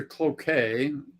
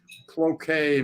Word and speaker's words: Cloquet: get okay well uh I I drove to Cloquet where where Cloquet Minnesota how do you spell that c-l-o-q-u-e-t it's like well yeah it's French